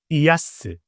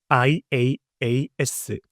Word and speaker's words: IaaS: 자, 그 다음은 IaaS, IaaS, IaaS라고 발음을 합니다.